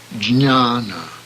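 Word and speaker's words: jñāna: paramaatma the universal self students find difficulty in pronouncing the Enya sound which immediately follows after AJ it should be pronounced as the end in onion for example Gianna knowledge Gianna - Ana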